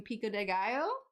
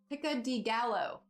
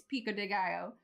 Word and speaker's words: pico de gallo: and they were making pico de gallo and um Paul Hollywood was pronouncing it what was it picca de gallo he was calling it picca de gallo and I was just